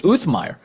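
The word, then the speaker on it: Uthmeier: Florida's attorney general, James Um, Um Meer, that's that's how he pronounces his name. I didn't realize that. It's Uthmire.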